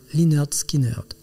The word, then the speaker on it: Lynyrd Skynyrd: C'est ainsi que Leonard Skinner, nom du professeur de gymnastique, devient Linard Skinnard, nom du groupe de rock. En y rajoutant un fort accent sudiste, la prononciation reste sensiblement la même.